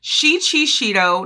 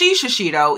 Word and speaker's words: Shido: with Shi shashido okay Shido not shashido even though I think shashido is way better but Shi Chito